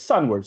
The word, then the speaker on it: sunward: capture the audio, and you just click it sunward, and it goes sunward. So it's the first syllable that's accented, right?